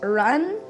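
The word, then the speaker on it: 仁: like this short words but apparently this is pronounced run its je N and this is pronounced cocked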